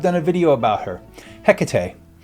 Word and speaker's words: Hecate: I've done a video about her, Hecate. I say Hecate. Some say Hecate. Some say Hecate. And you've got yourself a regular chorus of variations here.